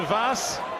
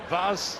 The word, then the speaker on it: Vaes: Wouter Vaes, and I promise you, I've checked the pronunciation, it is that. Wouter as in outer, Vaes as in Keith, and he is the big outsider here.